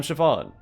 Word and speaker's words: Siobhan: would say use it or lose it I'm Siobhan my name's on the door yes that's how you pronounce it no I don't know why you